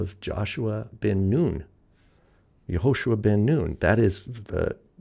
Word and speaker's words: Yehoshua: So Yehoshua those three stair stepped uh vowels are uh making the oo sound.